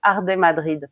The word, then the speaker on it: Arde Madrid: Donc Arde Madrid, pour prononcer à la française.